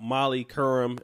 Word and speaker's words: Molly Qerim: I watched a lot of videos about Molly Curran that's how you pronounce her name in the Laroy ball situation